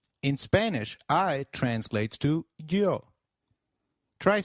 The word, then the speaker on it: yo: please Nosotros and nosotras the Y is pronounced like the English Y in some areas sounding just as it would in English while in others it takes up the sound of the English letter j the forms of you